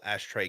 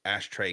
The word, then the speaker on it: Ashtrey: um YouTube And Hive all ashtray gaming and it's t-r-e-y I like to keep everything the same and the the fact that it's spelled with the knees a little bit different which is good so it's ashtray gaming and you you'll know